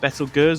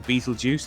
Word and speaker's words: Betelgeuse: stars so you've got better girls or beetlejuice depending on how you want to pronounce it and then you've